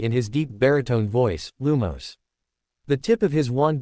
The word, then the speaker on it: Lumos: He listened to him say in his squeaky voice, "Reat after me, Lumos. Lumos." The class repeated, "Yes, like that, but make sure to put more emphasis on the first syllable, or else it won't work."